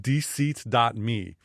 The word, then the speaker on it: deseat.me: Another one's called dseat.me. Now that's spelled DESEAT.me.